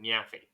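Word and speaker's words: Nyaffy: it out for you it's n-y-a-f-f-y it's v actually it's neat phi but she pronounces it nyafi because it's her yeah fee see my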